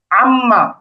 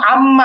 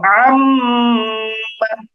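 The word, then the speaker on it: أمّا: একটু টেনে ধরে রাখবো তাহলে কিন্তু নাকের মধ্য থেকে উচ্চারণ হবে কিছুটা এটাকে আমরা এভাবে উচ্চারণ করব আম্মা আম্মা এই যে এরকম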